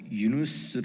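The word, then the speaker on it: يونس: 코란에이 이야기가 담겨 있습니다 코란에는 요나가 아랍어 발음으로 유누스 하는에 이름으로 불려집니다 유누스는 그 코란에 나온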